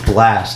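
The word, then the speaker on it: Blxst: first guy uh it's blast have you ever heard him no it's spelled blx st kind of put me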